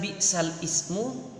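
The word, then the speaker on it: بِئْسَ الِاسْمُ: Sekarang kita lanjut ke bacaan tulisan bi'sal ismu dibaca bi'salismu.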